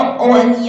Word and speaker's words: one: 对，那个 o 那个 o n e 嘛，他念的是 one，那